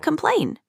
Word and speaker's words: complain: complain? Complain. Complain. It's about the second syllable. Complain is stressed on the second syllable, so that will go in the second syllable column.